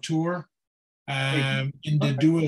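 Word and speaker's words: Tor: names commission and there is a Townsend called tour uh um in the duo civil Parish in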